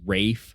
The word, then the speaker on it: Ralph: him be interviewed, and he pronounces his name as Rafe Fiennes. Yeah. And anyone who's like, and Tess is always like, "Are you sure it's not Ralph?" I go, "I'm sure."